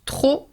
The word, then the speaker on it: trop: Trop chaud, you do not pronounce the final P.